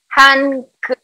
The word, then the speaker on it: hangeul: Y el hangul, eso te iba a decir, el hangul ahora se escribe hangeul. Antes se escribía hangul con la U directamente, por eso van a encontrar documentos o muchos en internet escrito en hangul. Eso es por la romanización anterior.